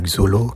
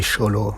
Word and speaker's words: Xolo: Et l'acteur, c'est pas Xolo, mais Cholo Maridueña.